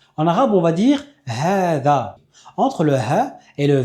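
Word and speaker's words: هذا: Pourtant, j'ai bien fait un prolongement. "ha da" Alors, c'est une rare exception de la langue arabe où on va voir une lettre qu'on prononce mais qui ne s'écrit pas. Et la deuxième particularité, c'est qu'après le dhel, on a un alif, on ne fait pas de prolongement pour celui-là. On dit "ha za".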